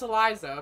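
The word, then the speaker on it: Elisa: I know it's pronounced Eliza, but I like saying Alisa, because that's how I pronounced it the first time.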